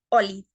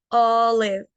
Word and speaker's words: olive: No decimos olive, decimos olive, olive, con aire.